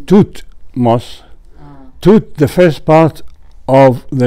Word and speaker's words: Thutmose: Dud, and the name Thutmose, Thut, the first part of the name of Thutmose the Third, although in English we pronounce it the same way as Tut in Tutankhamun, but in hieroglyphic it's a completely different word.